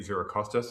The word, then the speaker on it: Xirocostas: But the reason I'm excited is because this week um we have a very special guest um Zoe Zerostas. I may pronouncing your surname correctly.